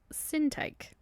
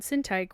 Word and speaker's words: Syntyche: Philippians 4:2-3 says, I urge Euodia and I urge Syntyche, which I Googled how to pronounce their names, and I think that's how you say it, to agree in the Lord.